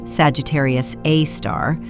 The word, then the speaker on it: Sagittarius A*: Sagittarius A star, we call it SG A star, pronounced Sagittarius A star, sits exactly 26,000 lightyears from Earth.